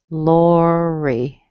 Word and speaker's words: Lori: Lori is a 2-syllable word. Whether it's spelled Lori or something different, it's just the same as Sherry. Okay, so it's Lori. Strong in the beginning, weak at the end.